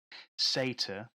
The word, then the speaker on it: Satire: Apparently, it's pronounced Satyr, but it's spelt satire, and that's Satyr.